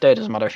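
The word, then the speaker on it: Bideford: it's mud but also it's pronounced Biddeford you're not Byford whatever like you to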